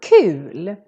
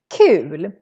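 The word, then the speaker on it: kul: u is the word cool cool here the u is real long because we're just one consonant coming after cool is how we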